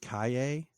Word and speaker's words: Calle: Then Sasha, I've heard her now pronounced Kaye. I'm not really sure how you get that from Calle. It's the sound that the double L makes in like Spanish or other South American languages.